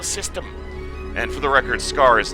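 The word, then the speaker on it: Skaarj: and for the record scars that the J isn't pronounced in silent you don't actually learn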